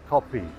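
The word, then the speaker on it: kopi: Coffee, and coffee in Indonesian is spelled K-O-P-I, copy, not C-O-F-F-E like we do in Australia.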